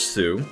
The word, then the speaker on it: Tsu: it sincerely Sue pronounced Sue so TSU but pronounced Sue um Twitter at I